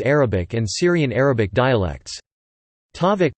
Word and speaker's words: tavuk: Tavuk pronounced tavuk comes from Old Turkic takagu and means chicken.